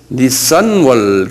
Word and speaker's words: 니산: 말이 있어요 이건 자동차 그 닛산 자동차고 같 발음이 같은데요 니산월 그래요 예 니산월이란 말